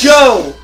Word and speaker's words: Joe: my name is my name is Joe rhymes with toe it also rhymes with Mo it also rhymes with